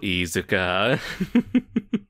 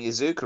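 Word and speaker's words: Iizuka: the grave oh so izuka oh that's how you pronounce it you're right right because he's got he's got two eyes at the beginning so there is an emphasis there oh i've been saying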